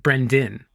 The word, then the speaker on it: Brendan: actually because well I I pronounce it b r n d i n Brenden oh sure Brendan yeah yeah yeah which that's how I like it pronounced but it's spelled with an A and then you know